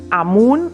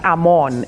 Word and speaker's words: Amun: He has his name pronounced in 3 different ways. Amen, A-M-E-N, Amun, A-M-U-N, and Amon, A-M-O-N.